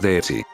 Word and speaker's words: Deetz: apellido de los Deeds, se le añade una i al final pronunciándolo como Deetzi.